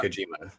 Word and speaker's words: Kojima: We got John Moxley going against it's Kojima, right? Yeah, Satoshi Kojima. Yeah, I listened to just double check the pronunciation, but I know you're a big New Japan guy.